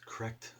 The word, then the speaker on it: Krect: it their ratio correct k-r-e-c-t it's correct spiral curve slant what